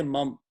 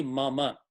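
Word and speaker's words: मम: So in Hindi, if you see mama, you will say mum, or you will not say the last syllable fully. But in Sanskrit, if there is no halant under it, it is a full syllable.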